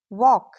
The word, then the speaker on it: walk: Silent L usually comes after A, O, U. When L comes after these vowels, very often we don't pronounce it clearly. Let's look at examples. Half, calm, talk, walk, should, chuck, salmon.